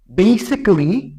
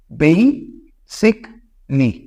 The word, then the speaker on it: basically: বেসিক্যালি আমরা এটারে বলি বেসিক্যালি, বাট এটার উচ্চারণটা হয় বেসিকলি।